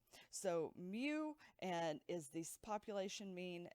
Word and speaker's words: mu: is the greek letter mu spelled m u pronounced m-e-w like new and mu so this is